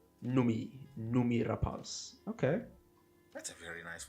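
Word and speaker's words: Noomi Rapace: the film yeah oh apparently her name is pronounced numi rapas numi numi rapas okay that's a very nice way to pronounce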